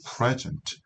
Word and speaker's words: present: present 할 때는요, 강세가 뒤에 오죠.